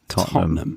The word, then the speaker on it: Tottenham: just say Tottenham like there's lots of letters there which we just completely forget about yeah yeah we crush them we yeah Tottenham totam yeah that's true okay